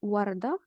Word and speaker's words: وردة: Donc, si vous entendez warda avec ha à la fin, warda, ça veut dire à la fin, on a ta al-marbouta.